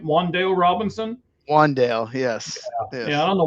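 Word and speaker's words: Wan'Dale: I believe, even though it's spelled W-A-N with the little apostrophe in there, I think it's still Wandale, right? Wandale Robinson. Wandale, yes.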